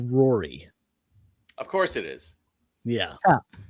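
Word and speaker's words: Ruaidhrí: That name is actually pronounced, despite there being a D, an H, a U, an A, an I, just a bunch of conjumbled letters. The name is pronounced Rory.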